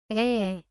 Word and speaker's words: 에: 예, 예, 예, Open your mouth slightly and place your tongue in the middle. 에, 에, 에, Add a y sound before pronouncing e.